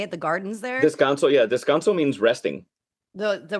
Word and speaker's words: Descanso: Descanso, yeah.